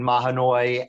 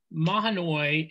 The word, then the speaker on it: Mahanoy: sense that i think mahanoy and i think that's how you pronounce it the way you did it based on the chief justice's pronunciation order argument um and the wikipedia entry mahanoi is probably going to